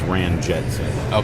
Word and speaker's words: Ranjitsingh: Under his vitals, Minnesota United lists him that his pronunciation is Ranjitsingh.